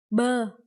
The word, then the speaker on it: bơ: Yeah, that is bơ.